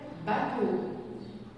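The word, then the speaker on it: bateau: عندي بعد كده باتو باتو اشتبهوا معايا على حرف الاو ده باتو باتو باتو اللي هي ايمان.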